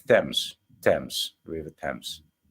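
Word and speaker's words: Thames: man some Supreme architecture the river thems they pronounce it thems thems river thems right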